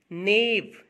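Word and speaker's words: gnaw: incisors, molar, alimentary canal, नेव, जी silent है इसमें, नेव पढ़ेंगे इसको, ग्नेव नहीं, नेव, प्रे, कैनाइन्स, आईसाइट, प्रोबोसिस, टंग, स्कैपिंग, पॉइजनस, फैंक्स, स्नेक के टीथ को कहते हैं बेटे फैंक्स।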